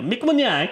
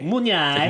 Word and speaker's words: Munyai: Yeah, Mick Munyai. Munyai. Munyai. Munyai. Munyai. It's a wolf looks up into the moon and goes, yay!